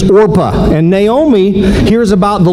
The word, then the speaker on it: Orpah: care much about but Oprah Winfrey is named after Orpah somehow the pronunciation and spelling issues got in the way when she was younger so Orpah becomes Oprah but this one's name is opa and naomi hears about